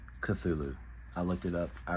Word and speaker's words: Cthulhu: over the new Lancer Tactical cthulu yes it's pronounced cthulu I looked it up I ran it by